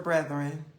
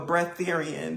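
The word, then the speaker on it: Breatharian: Unless you're a brethren. If you know, you know. We have to rest. No, a bretherian. That's how you say it.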